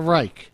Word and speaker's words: Reich: I know it's the Reich.